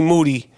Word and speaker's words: Moody: Yo, we're not the only ones who called it, but G Monetti, G Moody, last name rhymes with duty, 2015 podcast co-host of the year, who will be on the I Am Rapaport Stereo podcast, this episode.